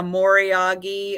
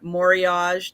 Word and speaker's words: moriage: so pretty and yes a moriyagi or moriage depending on how you would like to pronounce it whenever it's a Japanese item I I tend to to use the moriyagi pronunciation for that but yeah the raised